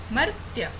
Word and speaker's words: मर्त्य: अमर का विलोम होता है मर्त्य। मर्त्य। मर्त्य। देखिए उच्चारण देखिए, मर पहले म पढ़ेंगे फिर रेफ पढ़ेंगे आधा र, मर्त्य।